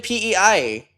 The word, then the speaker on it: PEI: Never heard of a place called Pi in Canada. It is Pi. I live in Pi. Wait, I live in PEI.